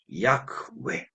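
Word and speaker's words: יהוה: 그래서 어떻게 발음할지를 사람들이 알지 못했는데 그 전에는 이제 주님이라고 하는 아도나이라는 그런 그 단어의 모음을 가지고 와서 여호와라고 불렀습니다. 그런데 최근에 요 모음을 연구하는 과정에서 이 발음이 야흐웨 이렇게 알려졌는데 야흐웨라고 하는 것은 이제 야의 밑에 히읗이 받침이 있죠.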